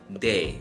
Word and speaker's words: བདེ: dai temple day okay and don normally has some aspiration sound right but because of this prefix then it loses the aspiration sound so it sounds very close to the english D sound okay a and then